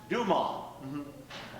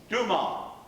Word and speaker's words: Dumas: Yes, I know, but it's pronounced Dumas. Say that. Dumas.